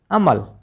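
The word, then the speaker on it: humble: एच यू एम बी एल आप इसको हम्ल पढ़ते हैं अमल क्योंकि यहां पर एच तो साइलेंट है विनम्र जिसका मीनिंग क्या होता है?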